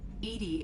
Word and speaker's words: EDI: EDI is the phonetic pronunciation of EDI.